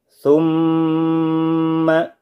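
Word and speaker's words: ثُمَّ: Saya contohkan, summa dipanjangkan terlebih dahulu.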